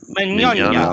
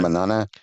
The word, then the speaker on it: Mignogna: How do you pronounce his name? Vic Mignogna. Mignogna. Mignogna. All right, that's fine. Manana.